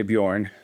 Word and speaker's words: Beorn: And um and B E O R N is a really weird spelling and I frankly don't really know how to pronounce my own names. I just say Bjorn, so it's good.